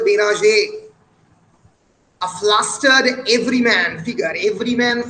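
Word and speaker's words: Bérenger: BRENGR উচ্চারণে বেনাজে।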